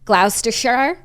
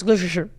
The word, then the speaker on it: Gloucestershire: In his book, he talks about how an older English woman took his virginity in, I'm going to pronounce this wrong, just leave me alone, Gloucestershire. No, Jackie, it's Gloucestershire.